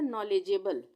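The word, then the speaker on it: knowledgeable: उसके बाद है नॉलेजेबल, नॉलेजेबल, इसको हम तोड़ते हैं KNOW, ये बन गया नौ। अब यहाँ पे आप सोचोगे कि के क्यों आ रहा है, के से तो N से न का उच्चारण होता है, पर यहाँ पे KNOW से यहाँ पे के साइलेंट हो जाएगा, इसको हम पढ़ेंगे नौ, नौ, यानी कि के का उच्चारण यहाँ पे नहीं होगा, नौ।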